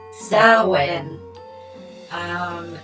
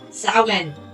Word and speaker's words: Samhain: That's why people say it that way, but It's actually pronounced Samhain. It's Irish Gaelic for summer's end, pronounced Samhain.